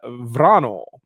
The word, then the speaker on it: Isabella Wranå: But Wranå.